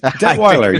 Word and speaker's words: Detweiler: Craig Detweiler, welcome to the Dave Palma Show. Thank you, Dave. Thrilled to be here. Thrilled to have you here, Craig. Did I pronounce that right? Detweiler? You did. Detweiler, yes.